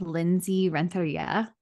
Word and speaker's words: Lindsey Renteria: I have Lindsey Renteria.